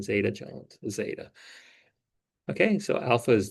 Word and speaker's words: zeta: and this last one I think is zeta yeah like katherine zeta zeta okay so alpha is the intercept here Right?